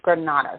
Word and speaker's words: Grenada: I know people say Grenada, but I really don't think that's how you pronounce the country's name. I think it's Grenada, so we're going to go with Grenada because that just sounds better than Grenada.